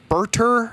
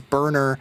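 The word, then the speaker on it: Burter: Next, we have Berter, I believe it's pronounced. I always think of it as Burner.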